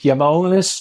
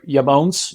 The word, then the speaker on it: IAMONES: the pronunciation how close did I get it yamon you're perfect and um yeah say it yonis or yamon you can that's the right pronunciation okay so how what are all the